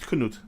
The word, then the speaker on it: Cnut: his name was a Knut he was cannot cnut yeah and which is actually not that different from Kent I'm just saying true that but it's still pronounced Knut no I know I'm not saying that I'm